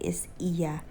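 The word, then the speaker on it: Oia: Nandito na kami sa lugar ng Iya or Oya. 'Yun yung tawag nila dito. Pero ang pronunciation daw na correct isa.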